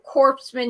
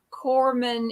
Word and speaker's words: corpsman: men he would or corpsman he didn't he didn't even know that corman is spelled c-o-r-p-s m-a-n that's gorman and colonel is spelled